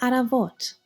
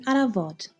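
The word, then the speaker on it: առավոտ: that same letter B in Eastern Armenian or P in Western Armenian.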